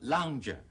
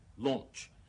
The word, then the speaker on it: lounge: 香港好多人好中意將個 lounge 讀成 launch，響音錯，尾音都錯埋。